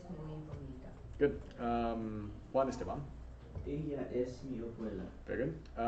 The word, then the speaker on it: ella: Double L makes a. Ella. Yeah, good. All right, Pablo. Sí es muy bonita. Good. Juan Esteban. Ella es mi abuela.